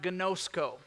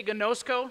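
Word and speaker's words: γινώσκω: do you know that that word in the greek is pronounced gnosco can you say gonozco say goodness go there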